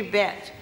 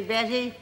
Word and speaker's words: Bette: of argument is it is it bet or Bessie it is supposed to be bet it is taken from the French Balzac's koozies bet the original pronunciation is bet and it took me 15 years to educate everybody to say Betty and I found out that